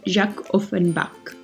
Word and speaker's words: Jacques Offenbach: An opera by Jacques Offenbach, or if you want the French pronunciation, Jacques Offenbach, a German-French composer from the Romantic period.